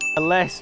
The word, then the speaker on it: ellesse: unless unless unless unless that's it and it's LS well dive into the goodie box thanks